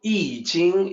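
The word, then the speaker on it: I Ching: So I Jing is the way it's pronounced.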